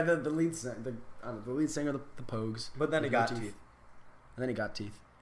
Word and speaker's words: Pogues: Could be Pogues or Pajues, but it's actually Pogues.